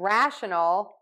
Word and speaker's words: rational: is pulled high up we are going to stress rash and rational more in syllable one we're going to stress that and then in rationale we're going to stress syllable three a little bit more so we do have